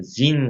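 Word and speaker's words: Zin: 근데 좀 헷갈리는데 그 신의산에 가기 전에 보면 여기에 신광야가 있습니다.이 신은 어, 그 영어 스펠링으로 사실 좀 다 다릅니다. S 이제 신이고 여기는 이제 사실 정확하 지인 광야입니다.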